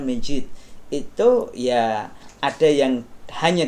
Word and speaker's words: masjid: hanya disebut masjid nah tulisannya kadang kayak c itu ya masjid padahal bacanya ternyata Majid itu ya ada yang